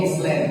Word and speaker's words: island: Hanya saja ada beberapa hal yang perlu dikoreksi tadi pada saat presentasi, ya, terkait dengan misalnya contohnya Lombok Island. Nah, pronunciation-nya aja.